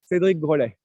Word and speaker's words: Cédric Grolet: Yes, Cédric, that's his first name, Cédric in French, and Grolet is G-R-O-L-E-T. Cédric Grolet.